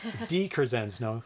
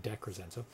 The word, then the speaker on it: DiCrescenzo: DiCrescenzo, not DeCrescenzo.